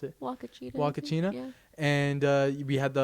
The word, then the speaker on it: Huacachina: How do you pronounce it? Huacachina.